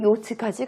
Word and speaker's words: yacht: 기업, 병원, 은행, 그리고 자기 전용기, 그리고 요트까지 가지고 있는 억만장자이다 라고 얘기해 주는 거죠. 한 번만 더 읽어보고 여러분들 스스로, 특히 이 발음, 요트, yacht, 이렇게 발음한다는 거 잊지 마시고요.